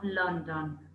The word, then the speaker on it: London: not London its London even though it's spelt with an O the sound is earth so with London okay